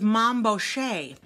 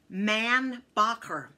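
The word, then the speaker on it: Mainbocher: to say this and it was mambo shay however it's actually man bocker the thing is he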